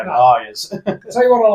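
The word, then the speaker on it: Lyre's: I know you said layers, but no, Lyres.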